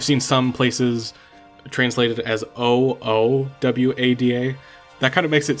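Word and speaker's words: Ohwada: And also his name is spelled O H W A D A. Um, so it's O Wada.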